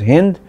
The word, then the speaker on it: Hind: So they used to pronounce it as Hind, and that is why everything here was grouped together.